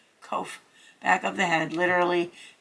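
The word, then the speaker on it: Qoph: behind the Mind I.E oh co kof kof sorry I pronounced that that's a q kof back of the head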